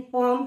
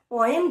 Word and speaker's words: poem: बच्चे कई बच्चे मुझसे पूछते हैं कि इसकी प्रोनाउंसिएशन पॉम है क्या. बच्चे पॉम तो कोई वर्ड नहीं है. अगर अमेरिकन इंग्लिश की भी बात करें तो उसमें है पॉम, और लंबा है, और पोएम जो वर्ड है वो ब्रिटिश इंग्लिश का वर्ड है.